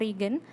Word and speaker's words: reagen: karbohidrat kompleks itu dengan Regen Regen Ibu nulisnya reagen ya bacanya reagen lugol nah lugol ini